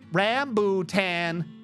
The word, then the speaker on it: rambutan: british there you go i'm saying it the proper british way apparently rambutan rambutan rambutan thank you google